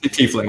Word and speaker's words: tiefling: sorry just god I can't pronounce on the pronounces sorry chiefly tiefling yes okay I had some tea fling and